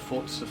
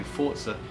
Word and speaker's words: Forza: PS4, a bit of Forza Horizon 4. I'm trying to say Forza as opposed to Forza, as I have worked that is how you say it.